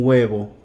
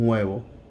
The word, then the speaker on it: huevo: An egg, un huevo. Un huevo. H is silent. Un huevo.